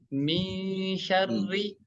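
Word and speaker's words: شَرِّ: Min syarri ya. Syarri. Huruf ro yang berharokat kasroh dibaca tipis ya. Tarkik ya. Syarri bukan syarri tapi min syarri.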